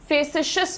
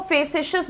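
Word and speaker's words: facetious: सीरियस नहीं होते हैं जब चीजों को लेकर के तो ऐसे लोगों को हम कहते हैं फसिशियस। फेसिशियस नहीं फसिशियस।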